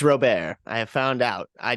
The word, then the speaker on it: Robert: on and I'm sorry it's Luis Robert believe it or not it is Robert I have found out